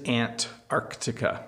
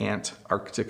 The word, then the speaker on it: Antarctica: hear if I say it quickly I say Antarctica you don't really hear the sea but it is Antarctica that would be the very the proper way to pronounce it aunt Arctic and Antarctica is where you would find penguins